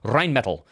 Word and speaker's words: Rheinmetall: Because if you remember, Rheinmetall said that they were going to send, let me pronounce it in the German way, Rheinmetall.